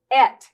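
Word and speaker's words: את: It only has 2 letters, and it is pronounced et in Hebrew.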